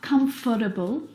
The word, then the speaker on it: comfortable: Now, this word just like vegetable has an extra vowel in there that we don't need to pronounce. Comfortable. Not comfortable or comfortable, but comfortable. Comfortable. We skip that vowel sound.